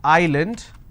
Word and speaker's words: island: if i have a word which is island i don't pronounce this as island so s is silent here okay for example if